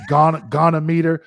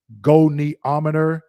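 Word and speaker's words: goniometer: And I'm not a medical student, so some of these words, like I call it gonometer, but it's pronounced goneometer.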